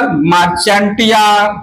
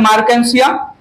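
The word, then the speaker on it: Marchantia: Mail मार्केंसिया अपना अपना pronunciation कर लीजिएगा, मार्चेंटिया जो भी है, अलग अलग लोग, ठीक है। मेरा प्रोनाउंसिएशन है मार्केंसिया।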